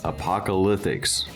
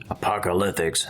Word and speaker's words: Apocalithics: It's apocalyptics, like Paleolithic, Neolithic, apocalyptics, the lithics of the apocalypse.